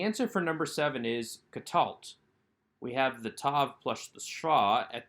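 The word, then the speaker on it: קָטַלְתְּ: to number seven answer for number seven is katalt we have the tav plus the straw at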